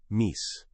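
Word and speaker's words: MECE: At McKenzie, the gold standard for structure has a quirky name, mis. pronounced MIC and it stands for mutually exclusive, collectively exhaustive.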